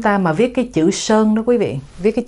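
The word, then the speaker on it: 山: Người Việt đọc thành Sơn, người Tàu Bắc Kinh thì đọc khác, họ đọc là San.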